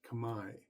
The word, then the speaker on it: Khmer: language is actually called Kamai their culture is Kamai so it's pronounced Kamai Kamai Rouge is a French term um meaning